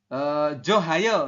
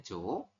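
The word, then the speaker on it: 좋아요: Tetapi di aturan baca nomor 7 disampaikan bahwasanya jika ada hiet posisinya di akhir, oke, ketemu dengan vokal di sampingnya, ditandai dengan iyang ini, teman-teman, maka si hiet tidak terbaca. Jadi nanti Anda membacanya hanya Joayo.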